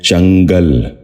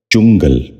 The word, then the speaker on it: چنگل: سے سنیے، چکا چوند۔ تیسرا لفظ ہے چنگل۔ یہ غلط تلفظ ہے، درست تلفظ ہے چنگل۔ دوبارہ سنیے، چنگل۔ بچوں